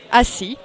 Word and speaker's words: assis: The final consonant is not pronounced. For example, in vous, alors, assis, you have an S in the end, but you don't pronounce it.